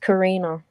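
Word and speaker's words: Carina: hi uh it's it's um pronoun um it's pronounced Karina Karina then back to the family's residence understood to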